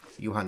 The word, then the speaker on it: Johan: if I get called Johan or even John the actual uh correct pronunciation is the German Way Yan the dream H